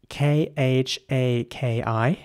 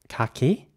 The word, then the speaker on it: khaki: will be pronounced khaki so again the a in British English is pronounced R so Kaki Kaki and in American English khaki with an air here's an example for